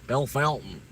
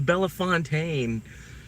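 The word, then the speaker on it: Bellefontaine: Bell Fountain. Bell Fountain. It's Bella Fontaine.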